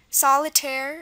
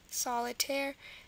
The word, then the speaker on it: solitaire: There's a lot of words like ending in air. Solitaire is another one. Solitaire. So this is a common ending of French. If you have the A sound at the end, A at the end of the word, it's going to be spelled A-I-R-E, as in millionaire, doctrinaire, and solitaire. So that's very common.